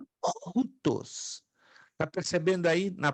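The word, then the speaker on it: οὗτος: Você já aprendeu que esse ditongo tem o som de U. Nunca ou. Sempre U.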